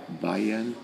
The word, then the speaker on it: Bayern: En Baviera, y Baviera se pronuncia en alemán Bayern, y en latín es Bavaria.